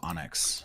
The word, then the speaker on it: onyx: Sapphire belongs above those I love that you say enx instead of Onyx I don't know how to say it it's like the Pokemon oh okay that's where